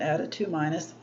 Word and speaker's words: ade2: We were going to plate out dilutions of the red ADA2- yeast, ADE2-, usually we just pronounce it ADA2-.